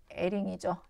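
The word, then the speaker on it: Hering: 그 다음에 에링이죠. 에링, 프랑스 사람이죠. H인데 요거 묵음, 에링의 반대색 이론, 요거 공부했습니다.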